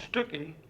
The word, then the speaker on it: Stuckey: Clay Stuckey, who's given many 7 or 8 programs for us, and he's good, and it's Stuckey, not Stuckey, rhymes with cookie.